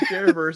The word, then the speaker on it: Verse: yes is the piit Jared verse is a Buccaneer you say it like spiderverse into the Jared verse